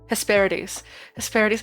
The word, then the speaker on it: Hesperides: Hesperides. I love that. I love that the pronunciation guide writes it Hesperides, like a D's nuts.